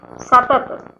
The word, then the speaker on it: satat: Next word, satat. SATAT. Underline T's. Means like French pronunciation. Ta. Satat.